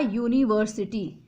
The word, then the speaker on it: university: Next, I got admission in a university. So university is also starting with U, but the sound is Y, year sound.